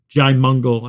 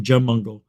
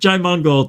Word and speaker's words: Jaimungal: Kurt Jaimungal. I think that's how you say his name. I was saying Jamungal.